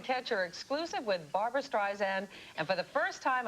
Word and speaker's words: Streisand: in case she is, she does not like it pronounced Streisand. It's Streisand.